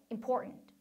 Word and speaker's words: important: 그리고요. 여기 import 한 다음에 분명히 t 사운드가 있는데 제가 지금 발음한 거 보면 important. 선생님 그 사이에 t 발음 안 들리는데요. 그쵸? 물론 t를 넣어서 important, important 해도 돼요. 하지만 더 많은 경우에 원어민들이 하는 것을 들어보면 이 t 사운드를 먹어요. 먹어요.